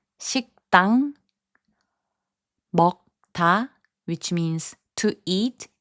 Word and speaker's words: 식당: 식당, which means restaurant, is pronounced as 식당.